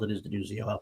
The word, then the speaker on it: Denuzzo: I say Denuzzo because that's how it's spelled. It is Denuzzo.